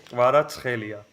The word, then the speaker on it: Kvaratskhelia: Okay, we say Kvaratskhelia. Kvaratskhelia. That's it. Kvaratskhelia. You used it. See, so Kvaratskhelia. But Kvaratskhelia. the way you say it is totally fine, by the way, guys.